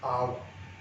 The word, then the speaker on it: hour: We don't pronounce this with H. We don't sound, we don't say how, we say hour. So we pronounce it from O. H is silent here.